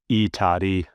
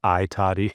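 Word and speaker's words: I Tatti: I was mispronouncing the E toddy from Harvard University Press's I toddy because it's a capital I space and then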